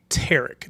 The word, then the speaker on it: Tarek: So my name is actually Tarek. That's how it's pronounced. Okay, yeah. Most people that are going to come on here Tariq, tonight are going to say Tariq.